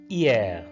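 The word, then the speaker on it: hier: that's today yesterday that's yeah now h is silent here so we call it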